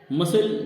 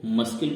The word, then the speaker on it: muscle: मसल, जैसा कि आपको मालूम होगा MUSCLE, अगर पूरा मिला के पढ़ो तो इसको मस्किल बोलेंगे, लेकिन नहीं, इसे अशुद्ध माना गया है व्याकरण की दृष्टि से। इसमें सी साइलेंट वर्ड है, इसको हम मसल पढ़ते हैं लेकिन लिखते MUSCLE, लिखा पूरा बढ़ जाता है, लेकिन इसमें सी शब्द साइलेंट है, इसलिए हम इसको मसल ही पढ़ते हैं।